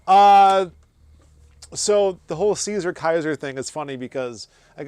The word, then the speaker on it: Caesar: So Caesar as you would see it spelled would be pronounced Kaiser by the classical Latins and the vulgar vulgar Latin speaking world would have said Caesar and a lot of